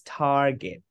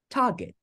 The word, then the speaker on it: target: I agree with you this is Target Target Target is how American people speaks but as you can see here it's not tar it is T Target Target is how British people speak and later you will